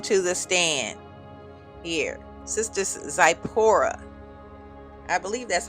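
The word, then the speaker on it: Tsipporah: And it's pronounced uh Sepora. Sapora.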